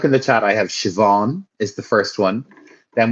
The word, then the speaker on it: Siobhan: it, it would be Siobhan. That's what the name is, Siobhan. But that's not how you say it. In Irish, it's Siobhan. Siobhan. BH in Irish is pronounced with a V, so it's Siobhan.